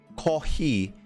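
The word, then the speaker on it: コーヒー: the word for coffee ko he is borrowed from another language it's pronounced pronounces if you pronounce it it sounds similar to the word coffee right this is normal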